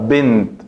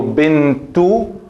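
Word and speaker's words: بنت: Bint. No digo bintu, binta, binti. No, aquí es bint, pero eso no quiere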